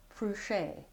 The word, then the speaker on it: Fruchey: And you can find my book on Amazon under my name, Fruchay. That's spelled F-R-U-C-H-E-Y.